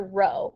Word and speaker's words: rho: shape of it there it's actually the greek letter rho is how we would pronounce that so rho represents the